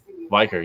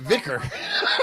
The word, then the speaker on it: Viker: Was it Viker or is that how you say it? Viker, yeah. Oh, I keep pronouncing it Vicar.